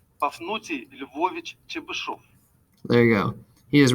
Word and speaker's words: Pafnuty Lvovich Chebyshev: Here it is, Pafnuty Lvovich Chebyshev. Pafnuty Lvovich Chebyshev.